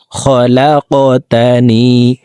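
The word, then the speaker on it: خلقتني: খলাকতানি, কফ কলকলার হরফ উপরের দিকে ধাবিত করে ধাক্কা দিয়ে উচ্চারণ করব।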